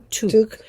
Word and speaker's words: toque: And they said we were saying it wrong. I was hysterical at home, I have to say, because someone, I don't know if you saw the comment, it's called toque, and we were calling it toque.